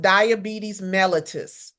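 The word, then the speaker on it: diabetes mellitus: And it's pronounced diabetes melatus.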